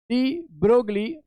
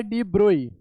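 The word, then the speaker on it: de Broglie: तो 1924 में French scientist लुइस Victor डी ब्रोगली, जिन्हें प्रोनाउंस किया जाता है डी ब्रोई, लुई Victor डी ब्रोई, right? लेकिन हम यहाँ पे अभी डी ब्रोगली प्रोनाउंस करेंगे, उसको बोलेंगे।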